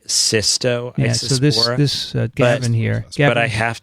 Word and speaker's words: Cystoisospora: it cyto isospore or cystoisospora the way you pronounce it cysto or cyto because some people are writing saito and some are actually there is an s in there so it's actually systo this uh but i